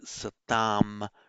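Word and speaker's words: satām: means of the good in Sanskrit it would be satam with a long a satam of the good in parley satam of the good.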